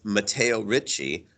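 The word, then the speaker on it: Matteo Ricci: his name that spells name his name is matteo richie mateo is m-a-t-t-e-o matteo and richie is r-i-c-c-i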